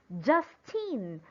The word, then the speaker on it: Justine: is the syllable just therefore the stress will be on very good it will be on top of letter u justine now how should we